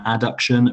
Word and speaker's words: adduction: and extension abduction and adduction remember when you're um presenting that to really pronounce the b and the d and make sure the